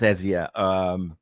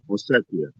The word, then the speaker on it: Ossetia: know about that with Ezia. And I did not. How do you say it again? I said that wrong. I know. The region. Yeah, the one that they're occupying. Ossetia.